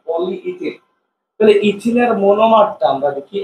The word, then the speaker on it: পলিইথিন: আমরা যে বাজার সদর করার সময় কিছু একটা কিনতে গেলে পলিথিন দেওয়া গেল, আসলে এটা পলিইথিন, ইথিনের অনেকগুলো অণু, পলি মানে অনেক, ঠিক আছে, আসলে এটা উচ্চারণ হবে পলিইথিন, অনেকগুলো পলিথিন, পলিথিন বিষয়টা এরকম না, পলিইথিন।